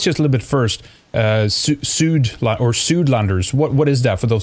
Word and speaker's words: Suidlander: But tell us just a little bit first, Suidlanders, what is that for those who don't know? Well, I'll pronounce it our way, if you don't mind. It's Suidlander.